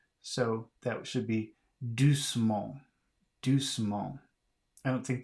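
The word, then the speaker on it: doucement: two is d-o-u-c-e-m-e-n-t so you don't have to pronounce this e because it has vowels it doesn't three consonants don't come up against each other so that should be do small do small I don't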